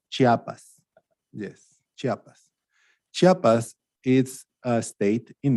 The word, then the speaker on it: Chiapas: it says right there chiapas oh right you pronounce chiapas yes chiapas chiapas is a state in mexico one of